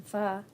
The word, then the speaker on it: pho: I gotta be in the mood for it, but I love me some pho. Is that how you say it? yeah, Me some pho. yeah. That's how it's pronounced.